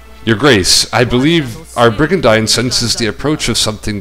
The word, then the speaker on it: Brigandine: justice burgundy the oh they say it as brigand huh that's how i always used to say it but then i found out that it's supposed to be pronounced brigandine that's awkward i guess i